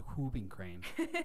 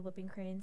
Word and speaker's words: whooping crane: I just know about the whooping crane.